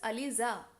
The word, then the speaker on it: Alisa: Uh so your name is pronounced as Alisa. Alisa. Yes ma'am.